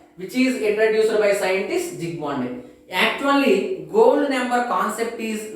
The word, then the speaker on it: Zsigmondy: That gold number was introduced by scientist Zsigmondy. Here S silent letter. So the protective action or protecting power of different leophilic soils is expressed in terms of gold number, which is introduced by scientist Zsigmondy.